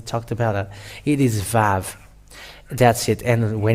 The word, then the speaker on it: Vav: It is Vav. That's it. And when it is Vav, it is pronounced as V in Hebrew.